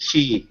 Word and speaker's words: Qi: b u c k Qi is is chi uh you want to describe it Ellie just to give a better basically vital life force energy so what we're trying to do chi chi in Chinese is